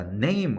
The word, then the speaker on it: name: name을 왜 NAM이라고 적는지 봐야 되겠죠. N 무슨 발음? 니은. A 무슨 발음? A, 에, 이. 그래서 네이. 그러면 네이가 되죠. NA까지가 네이. M 무슨 발음? 미음. E는 장식이야. 장식이니까 발음해야 하네? 안 해. 그래서 합치면 뭐예요? name 되는 거죠.